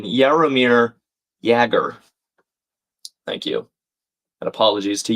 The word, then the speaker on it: Jaromir Jagr: Oh, and Blake correcting my pronunciation. Jaromir Jagr.